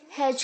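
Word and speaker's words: hedge: ध्यान रहे D silent है और जो जी और ई है उसे हम जे की तरह साउंड करेंगे, हैज।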